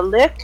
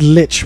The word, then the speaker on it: lich: killing a devil, that shouldn't be harder than killing a dragon and surviving a lick and all the other things. Dear, but it's pronounced lich.